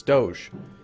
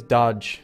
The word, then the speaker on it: Doge: It's Doge. Some people think it's Dodge. It's not. It's Doge.